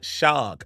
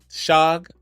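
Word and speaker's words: Shough: one game of uh Tyler shag I didn't know that's how you said his name shog had no idea that's how you pronounced it but I watched the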